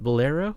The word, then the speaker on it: bolero: I'm not sure how to pronounce it. Bolero, yeah.